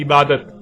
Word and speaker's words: عبادت: لکھا جاتا ہے عبادہ، اور جب عربی لہجے میں اس لفظ کو پڑھا جاتا ہے تو تیز ساکت ہو کر ہے کی آواز میں بدل جاتی ہے، یعنی اسے عبادہ پڑھا یا بولا جائے گا۔ عربی کا لفظ عبادہ جب اردو میں شامل ہوا تو اسے عربی کی بجائے اردو لہجے میں تے کے ساتھ بولا گیا اور بولا جاتا ہے، یعنی عبادت۔ اب آتے ہیں اس